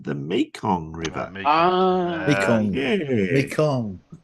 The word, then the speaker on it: Mekong: Mekong. Not Megong.